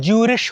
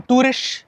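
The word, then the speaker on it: Zürich: ज़ूरिक को ना अलग अलग लैंग्वेज में अलग अलग टाइप से प्रोनाउंस करते हैं। इंग्लिश में ज़ूरिक हो गया, जर्मन में ज्यूरिश हो गया, इंग्लिश एक रोमांस लैंग्वेज इसमें बोलते हैं टूरिश।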